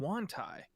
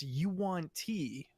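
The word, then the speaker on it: yuan-ti: canon pronunciations and and i always called them wontai but it's you want tea oh yeah you right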